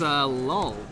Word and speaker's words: lol: Do you pronounce lol like lull? If so, that's weird. You should not do that. It's just silly. It's lull, not lol.